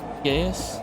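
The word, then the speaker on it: geas: Geis. Gaees.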